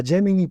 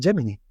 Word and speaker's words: Gemini: he enterado de que en Estados Unidos se dice gemini gemini es como yo lo pronunciaba y creía que se pronunciaba se dice solamente en Reino Unido así que bueno a partir de ahora ya lo podemos decir de dos maneras es gemini y gemini